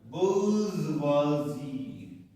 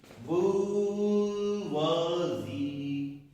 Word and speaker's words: bourgeoisie: इसका उच्चारण जो है देखिए लिखा हुआ है bourgeoisie.